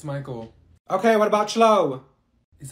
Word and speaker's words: Michael: Thank you, Mikael! Ma'am, it's Michael.